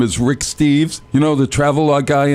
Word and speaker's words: Rick Steves: I always get his name wrong. I always call him Steve Reeves. He's so far from Steve Reeves. It's pathetic. His name is Rick Steves.